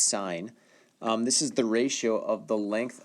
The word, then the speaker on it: sine: one of them is the sine ratio pronounced sine this is the ratio